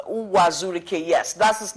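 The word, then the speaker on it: Uwazuruike: Ricky I mean I don't know if I pronounced hua Zhu Rica yes that's his name what's your relationship with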